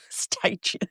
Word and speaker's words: Stygian: Stygian. It is spelled Stygian.